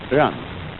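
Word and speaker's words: 仁: Although when we Romanize this word in English, we spell it J-E-N, it's pronounced Yuan. Sort of like rolling an R, or rather saying R but not rolling it.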